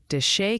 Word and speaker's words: Desha: h County in Arkansas pronounce it like the locals that's Des County pronounced like d back to you Ryan